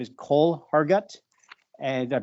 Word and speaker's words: Hergott: His name is Cole Hargut. And did I pronounce that right, Cole?